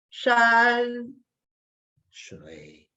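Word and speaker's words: 山水: Shan, shui. And when I get to that shui, I come down, I lower my head.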